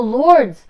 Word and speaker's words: Lourdes: Off camera on the IMDb page, it says that he went to and that I don't know how to pronounce it. Lourdes. Oh, Lourdes.